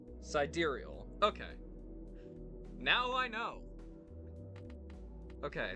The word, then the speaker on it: sidereal: I'll open it at least so you can, pronunciation. Sidereal.